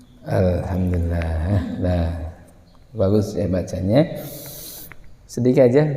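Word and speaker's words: الحمد لله: atau tidak Alhamdulillah gitu Ilham harusnya alham Alhamdulillah Hirobbil alham alham alham alham masih banyak Allah arah Kenapa itu namanya kalau kita baca Masha bacanya masih arah atau bacanya Arham itu suara kita menjadi imarah apa Itu malah miring seperti x pada bukan eight bukan alham alham apa yang kurang yaitu kurangnya membuka rongga mulut ketika baca ya kurangnya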